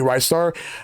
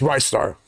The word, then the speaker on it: Ristar: I could never pronounce it right, but it turns out it's actually Rice Star. Like, I thought it was either Ristar, Restar, or Rice Star. It's Rice Star.